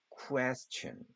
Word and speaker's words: question: Question 이렇게 되는 겁니다 참고로에는 자주 나오는 끝에 붙는 말인데요 어 이게는 우리나라말로 천 발음이 나거나 아니면 현 발음이나요 어 요거는 어 좀 기억해 두세요 따로 천 발음 아니면 션 발음이 Question 이렇게 발합니다 그다음에 장미 로즈 그다음에